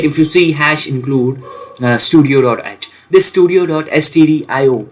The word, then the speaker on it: stdio: include uhud studio uh I will pronounce it studio.